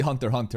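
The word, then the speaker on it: Hunter × Hunter: By the way, you never pronounce the X. It's supposed to be Hunter x Hunter, apparently.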